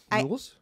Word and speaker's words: Youells: It's the first time it's been said correctly right now. Okay. In this hour since I got here. That's something. How I just do you know spell that it? Youells? Y-O-U-E-L-L-S. Like Yule Log?